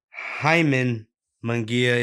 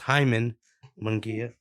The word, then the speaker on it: Jaime Munguia: Jaime Munguia, if you're from America and you're a frat boy, it's pronounced Jaime Munguia. But if you're from Mexico, it's pronounced Jaime Munguia.